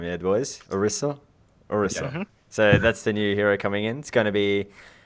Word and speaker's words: Orisa: So I was getting the name wrong before. The boys had to correct me. So Orisa. That's how I've got it right this time. Yeah, boys. Orisa.